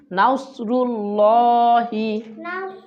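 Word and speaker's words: نصر الله: আমার সাথে বলুন ই জ একসাথে খেয়াল করুন যেন এভাবে এটা ভুল ইজ নাসরুল্লাহি আমাদের সাথে বলুন নাসরুল্লাহি ওয়ালফাত ওয়ালফাতটা একসাথে ওয়ালফাতুল্লাহ তারপর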